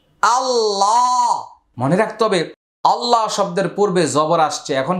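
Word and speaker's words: الله: হামজা লাম জবর আল লাম খারা জবর লা আল্লাহ মনে রাখতে হবে আল্লাহ শব্দের পূর্বে জবর আসছে। এখন কি হবে? আল্লাহ শব্দের লামটা মোটা হবে।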